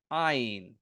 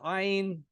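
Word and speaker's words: עין: It's okay if you make them sound the same. Most Israelis make them sound the same. Ayin and aleph. I tend to try to pronounce the ayin at least a little bit, but I lived in Jerusalem.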